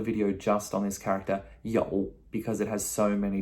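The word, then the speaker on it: 有: means to have okay that's um y o u and that again is that third tone that v tone a little bit difficult a little bit tricky okay yo okay i have we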